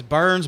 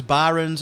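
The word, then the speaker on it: Byrns: It's Burns. Byron's. It's spelled B Y R N S. Yeah, I've heard it pronounced both ways because I've I I know I'm a huge Jason nerd and it's that's fine.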